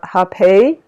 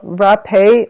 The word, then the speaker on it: rapé: the healing properties of hepei so hepe is or it's spelled r a p e with an accent so rappea or hepe it is um indigenous